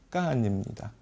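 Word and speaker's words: 赣: 중국어 발음은 까안입니다. 우리 발음은 공인데요.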